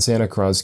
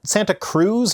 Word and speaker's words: Santa Cruz: The nearly intact fossil of a whale has been unearthed at a construction site in Santa Cruz County.